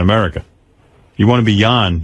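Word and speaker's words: Jon: You know, it's Yan. It's pronounced John. Yan.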